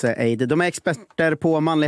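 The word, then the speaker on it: Ayd: av Aid som Mana stavas a y d men uttalas Aid De är experter på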